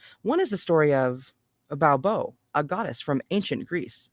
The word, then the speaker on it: Baubo: Baobo, the belly goddess, which is spelled Baubo.